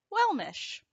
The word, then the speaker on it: welmish: you pronounce well mesh basically it's well and mish similar to well wish but you're going to flip that W upside down into an M and you get well mish some examples of this